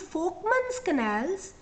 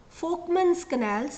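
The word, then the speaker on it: Volkmann's canals: you will find these folkman's canals it's written with a V but pronounced with a f f folkman's canals like Volkswagen which link individual hsian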